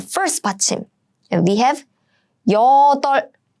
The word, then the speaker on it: 여덟: It means 8. 여덟. And this is a tricky one because this is a basic rule. So you are supposed to pronounce this one, the 받침 on the left side.